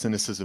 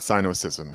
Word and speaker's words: Sinocism: I'm glad that I did this with you because now I know it's pronounced cynicism and not syosism.